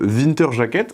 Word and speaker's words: Winterjacke: On va reprendre notre Winter Jacket. Alors moi, je disais Winter Jacket, mais comment ça se prononce pour de vrai? Die Winterjacke. Die Winterjacke.